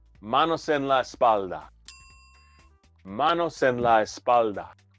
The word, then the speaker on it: espalda: Leave the LD sound out and you're asking for this. Let's not make that mistake, right? Manos en la espalda.